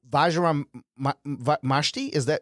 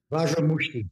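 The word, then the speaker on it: Vajra Mushti: Vajram Mashti? Am I correct on this? Mushti. Mushti? Vajram Mushti.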